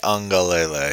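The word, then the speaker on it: Uiagalelei: Uwe Ungalele. Uwe Ungalele. All right, I missed a couple of syllables.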